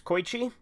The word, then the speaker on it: Koichi: in golden wind there's Koichi I've I've actually gone back and forth on that between calling him Koichi or ko Ichi I kind of use them interchangeably without even realizing it